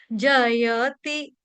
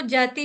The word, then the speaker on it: जयति: हम करेंगे who okay जयति यहां पे जयति य पूरा विजिबल सुनाई पड़ना चाहिए अच्छे से दिखना चाहिए सुनना चाहिए जयति इसको जैति नहीं कोई पढ़ देगा जल्दबाजी में जयति ते पंजाबियों की